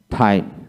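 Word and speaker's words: thyme: scholar জন জন scholar তারপর আছেন জন জন টাইম টি এইচ ওয়াই এম ই টাইম টাইম তারপর honour honour H উচ্চারণ হবে না hour O ইউ R hour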